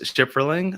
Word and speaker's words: Shipferling: are joined today by none other than chris schifferling of global wired advisors did i pronounce your last name right you you nailed